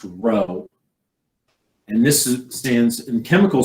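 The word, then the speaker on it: rho: be the lower case lowercase greek r pronounced row and this stands in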